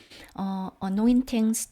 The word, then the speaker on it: anointings: anoint가 동사고요. anointings 또는 anointings 해서 t가 flap되어서 발음되기도 합니다.